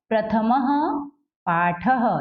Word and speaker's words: प्रथमः पाठः: जैसे यहाँ पर कोई मात्रा नहीं है ना? म में कोई मात्रा नहीं है और उसके बाद विसर्ग लगा है, तो यहाँ इसका उच्चारण क्या होगा? ह होगा।